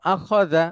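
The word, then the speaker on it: أخذ: বালাগ বালা আখা আখা শেষের অক্ষরটা হচ্ছে জাল জালটা একটু নরম করে বলতে হয় তো আখজা আমি আবারো আনছি প্লিজ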